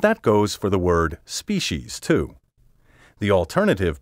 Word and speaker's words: species: its popularity today among the over-refined species is now recognized by current dictionaries not one however lists it first that makes my heart glad for to my ear this sibilant species sounds socially ambitious and intellectually superficial in my opinion species is just too precious for words as you can see